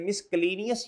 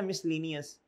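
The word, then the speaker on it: miscellaneous: आप कहते हैं यार general expense, sundry expense, other expense इसे इसे क्या पढ़ते हैं? मिसलनियस या मिसलेनियस? मिसलेनियस। ये साइलेंट है मिसलेनियस, office expense, other expense ये ये नॉर्मली इस तरह की बातें हैं।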